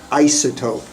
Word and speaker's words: isotope: Now, can I just make a comment on pronunciation? Isotope.